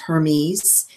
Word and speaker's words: Hermes: her knees Trismegistus and it's spelled kind of the way it sounds hermes h erm es hermes